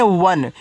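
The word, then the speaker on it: one: चलिए, आगे ओ एन ई। तो इसको पढ़ते हैं वन। इसको ओ ने नहीं पढ़ना है। इसको वन पढ़ना है। ठीक है? तो आपका व और न हो जाएगा। ये आपका वन हो गया।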